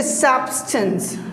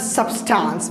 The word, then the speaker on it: substance: And you say substance, not substance, because there is schwa sound. Substance, schwa sound means it is not a long, so it is not a long sound. We say substance.